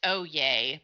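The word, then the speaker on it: Oyez: made me discover a new website and it's pronounced O Yay but it's O yez and it's a free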